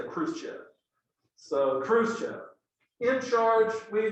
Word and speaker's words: Khrushchev: The leader in the Soviet Union after Stalin is this guy, Nikita Khrushchev, or in Russian, Khrushchev. We Americans say Khrushchev.